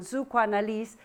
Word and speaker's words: Psychoanalyse: who may speak German, when we say psychoanalysis in German, Psychoanalyse, the emphasis is on this first part of the word, the Psycho, which is the soul.